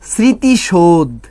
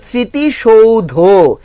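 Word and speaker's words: স্মৃতিসৌধ: এটা কি বলি জানেন স্মৃতিশোধ সত্যি কথা বলতে ম্যাক্সিমাম মানুষে আমরা কি বলি এটাকে স্মৃতিশোধ উচ্চারণ করি সত্যিকার অর্থে স্মৃতিশোধ উচ্চারণ না এ উচ্চারণ হচ্ছে স্মৃতি সৌধ কি বলেন তো স্মৃতি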